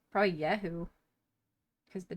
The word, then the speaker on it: Jehu: It's probably Jehu, I guess, in English. Is the son of Jehoshaphat. Oh. Yeah, Jehu. Okay, Jehu. It's probably pronounced slightly different in Hebrew or whatever, but that's probably how the English speakers say it.